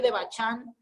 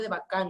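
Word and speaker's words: Devachan: and aunque se escribe aunque se escribe de bachar estas palabras ha escrito si se pronuncia de bach año 2 cuando le han llevado de vaca no posee la palabra de manchan se pronuncia de bacán ya entonces vamos a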